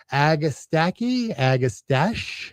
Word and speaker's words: agastache: Agastache, as it's spelled, but it's not a French word, my wife says, like mustache. It's mustache. It's mustache, agastache.